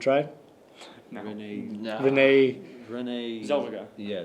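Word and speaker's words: Renée Zellweger: Zellweger. Yeah, Zellweger.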